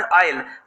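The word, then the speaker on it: Isle: जो ये वर्ड है ना ISL, इसको आइसल नहीं कहेंगे हम, ये इसको प्रोनाउंस करते हैं एमरल्ड आइल।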